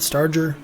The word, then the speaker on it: Starger: Am I pronouncing it correctly? It's Starger, not Starger. Please let me know. It's a hard G.